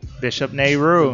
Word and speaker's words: Bishop Nehru: Bishop Nehru.